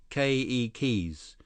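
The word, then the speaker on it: keiki: say children in Hawaiian ke keys with the accent on the first syllable okay Lee k k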